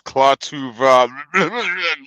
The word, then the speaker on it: Klaatu: No, you said it wrong, sir. It's Klatuva. Yeah, you can get a lot closer to what he says than I can, man.